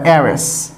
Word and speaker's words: heir: তো এয়ার অথবা এয়ারেস, তো এয়ার এখানে কিন্তু হেয়ার হয় নাই, উচ্চারণ কিন্তু হেয়ার না, উচ্চারণ হচ্ছে এয়ার। তো এখানেও এই এইচটা হচ্ছে সাইলেন্ট, ই থেকে উচ্চারণ শুরু হয়েছে, এখানে ই থেকে উচ্চারণ শুরু হয়েছে।